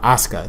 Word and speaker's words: Asuka: but nobody's ready for ASA there we go Asuka thank you so um so far it looks